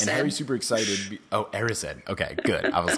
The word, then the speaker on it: Erised: It's Erised. And Harry's super excited. Oh, Erised.